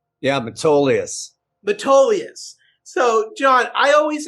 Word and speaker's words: Metolius: We have John Freeze, the co-founder and president of Metolius Hemp Company. John, did I pronounce that right? Yeah, Metolius.